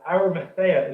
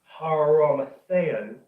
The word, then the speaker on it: Arimathea: And also the Arimathea part, within the Golden Age work, Christian O'Brien, Barbara Joy O'Brien, basically they say that Arimathea is actually a wrong pronunciation. It should be Haramatheo, which basically means crown prince.